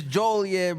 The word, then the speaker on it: Joliet: It's Joliet, bro.